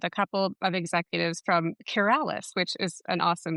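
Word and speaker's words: QurAlis: Well, I I actually got to speak with a couple of executives from Curales, which is an awesome name, by the way. They're it's pronounced Keralis, but they're trying to cure ALS, which is I think it's really cool.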